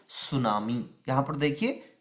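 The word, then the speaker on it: tsunami: quakes हमेशा आते रहते हैं जिसको कहते हैं सुनामी यहां पर देखिए कि suman1 इसको सूचना मिली पढ़ना है कि जो यहां पर साइलेंट रहता है इसको बोलते है सुनाओ जिस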